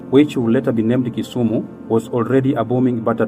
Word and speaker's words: Kisumu: then we can exchange the wool called it kisumu but then there was called it and the new youth call it winner so the the actual pronunciation should be kisumu if you look at kisumu it is really